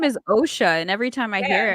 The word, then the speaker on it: Osha: they give her the oh her name is OSHA and every time I hear it I'm like you mean OSHA like OSHA regulations yeah that's exactly yeah well